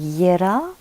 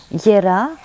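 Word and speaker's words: Jera: la rune qui s'appelle ya si ma mémoire est bonne attendez que je retrouve oui c'est ça donc ça s'écrit j e r a ça se prononce visiblement ya rune des moissons donc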